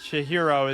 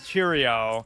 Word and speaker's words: Chihiro: Byakuya is Bayuka, or Chihiro is Chirio, or who else?